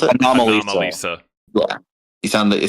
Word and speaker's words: Anomalisa: Annalisa? Annalisa? How do you pronounce it? Anomalisa.